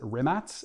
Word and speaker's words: Rimac: uh there's also the rimats because this is a company out of croatia so it's written rimac r-i-m-a-c but you pronounce it rimats and it's the navera